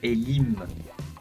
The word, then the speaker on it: Elim: même manière que Elohim on dit plutôt Elim e l i m donc pas Elohim donc c'est vous voyez